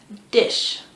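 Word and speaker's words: diche: Dish. It's spelled D-I-C-H-E.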